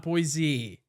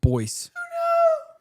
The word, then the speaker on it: Boise: It's actually pronounced Boise.